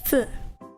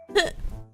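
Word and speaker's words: ふ: It's like an H anyway, so I don't know why it's an F, but it's fu, not hu.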